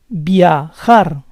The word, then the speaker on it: viajar: Fifth word ends in a consonant that is not N or S. The stress goes on the last syllable. Viajar, viajar.